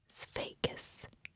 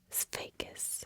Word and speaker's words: Sveikas: To say hello to a man, you can say Sveikas. Sveikas. The way it's spelled is S-V-E-I-K-A-S. So there's a V in there. It's just a little tough to do the SV while whispering.